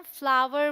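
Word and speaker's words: flour: Shift the फ्लावर। ध्यान रखें, इसे हम फ्लावर बोलते हैं या फिर फ्लावर, फ्लावर नहीं बोलते। और जो फूल होता है उसे भी हम फ्लावर ही बोलते हैं, ठीक है।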